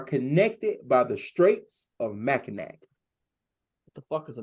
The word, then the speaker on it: Mackinac: I know how it's spelled, but it's pronounced Mackinac. Mackinac.